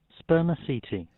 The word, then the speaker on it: spermaceti: Checking sample of Bermiceti a type of oil or is it cetti? Is it an Italian word? Uh let's have a listen. Uh it is said like this. Spermaceti.